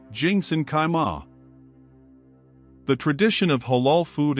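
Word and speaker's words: 清真开吗: of the shop owner by saying, Qingzhen Kaima, pronounced Jingsen Kaima?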